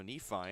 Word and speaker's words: Nephi: cuff at Nephi, Utah, which I learned that was it's pronounced like Wi-Fi, so Nephi and then at a Huab High School.